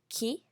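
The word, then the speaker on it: 木: the last example is tree which is called Ki Ki um this is like the tree that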